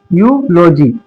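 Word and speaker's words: eulogy: जब ई और यू साथ में हो तो उसमें से सिर्फ हम यू को पढ़ेंगे, ई को साइलेंट कर देंगे।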